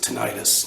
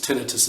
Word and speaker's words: tinnitus: get older I'm talking about tinnitus you might pronounce it tinnitus tinnitus is more technically correct but whatever the pronunciation